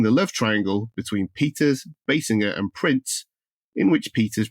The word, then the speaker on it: Basinger: being corrected several times he continued to mispronounce the surname of Peter's girlfriend Kim Basinger as Bassinger The Fallout led to